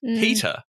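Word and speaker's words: Peta: Another name change maybe in the future, with the next name selected for the letter P being Peter, P-E-T-A, with identical pronunciation to opposition leader Peter Dutton.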